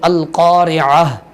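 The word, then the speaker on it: القارعة: ہم یاد کریں گے۔ القاریعہ، قاف کو پر کر کے پڑھیں گے القاریعہ۔ عین کو جس طرح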